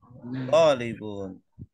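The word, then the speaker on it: طَالِبٌ: Zaidun talibun. Ini Zaidun yang merah ini sebagai mubtada. Dibacanya dun, tidak dan atau din. Zaidun talibun. Talibun ini khobar, predikat. Tidak dibaca ban atau bin, tapi bun.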